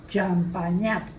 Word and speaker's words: Champagnat: Que se pronuncia en francés. Es francés, pues yo sí, esa palabra me suena a francés. Se pronuncia Champagnat. Sí, mira, aquí lo dice. Champagnat. Porque la G y la N en francés suena Ñ.